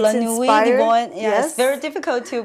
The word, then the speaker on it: La Nuit de Bohème: And it's La Nuit de Bohème. Yes, very difficult to pronounce.